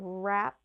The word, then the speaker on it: wrap: another example of those we have wrap like wrap a present up for someone's birthday or rap like you're rapping a song they sound the same but rap like rap a present is with the w are and rap like the song is just an R so that can be